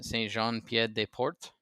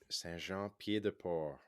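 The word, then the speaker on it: Saint-Jean-Pied-de-Port: Saint Jean Pied de Port. hmm The T is silent on Port, by the way.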